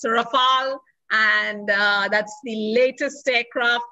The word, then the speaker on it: Rafale: And it's pronounced Rafal, okay? It's a Rafal.